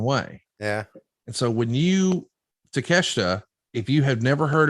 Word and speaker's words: Takeshita: But yeah, Takeshita is going to be a huge, huge star.